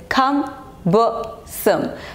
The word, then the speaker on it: cumbersome: It's not cumbersome, it's cumbersome. The pronunciation is cumbersome. So the stress is on the first syllable, okay?